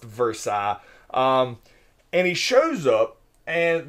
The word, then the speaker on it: Versailles: It's spelled Versailles, but it's pronounced Versailles.